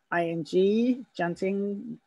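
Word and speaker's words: tjanting: You can paint on the wax, or you can use something called janting pen, which is spelt T-J-A-N-T-I-N-G, janting.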